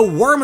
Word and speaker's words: wyrm: Applin himself is an apple with a worm in it, but a worm is a type of dragon that's pronounced the same way, hence the secondary dragon typing.